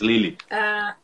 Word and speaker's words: Lille: Pronuncia aí essa última. É Lille 2, Lille.